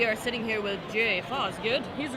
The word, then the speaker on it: Fosgitt: Fosgitt. I mean, That wasn't even the original pronunciation.